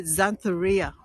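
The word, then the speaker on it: Xanthorrhoea: to try and pronounce it's called the xantharia then that starts with an X here we go here's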